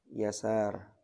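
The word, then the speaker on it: يسار: dua di bawah kemudian dengan yang tanp titik muhmala yasar bukan bukan pakai syin tapi Sin Abu usaid dibaca Abu usaid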